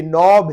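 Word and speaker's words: knob: हिम, आई नो this, तो यहाँ पे के साइलेंट है। और यहाँ पे ये नॉब है, कोई दरवाजे का, ऐसे डोर का, किसी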